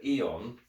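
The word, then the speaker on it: Aeon: a on a eon it would be pronounced eon but spelt a-e-o-n um version four is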